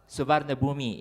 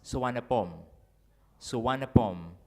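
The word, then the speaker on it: Suvarnabhumi: studying Thai now uh there is no V in the language in the Thai language Thai speakers replace V with W that's why the name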